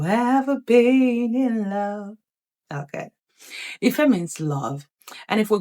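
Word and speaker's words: ìfẹ́: placed upon these words, this way is pronounced Ife, Ife. Ife means love. Ife, because it is do, me. Remember that whenever you see this mark, it is pronounced do. And whenever you see this mark, it is pronounced me. And so, Ife, do, me, Ife, do, me.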